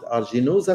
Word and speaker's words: aeruginosa: the Klebsiella pneumonia, Pseudomonas aeruginosa. I know some people pronounce it aeruginosa, something like this, Salmonella, etc., even avian pathogenic E.